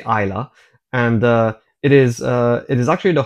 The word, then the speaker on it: Islay: So Islay is spelled Islay, Islay, but you say Islay.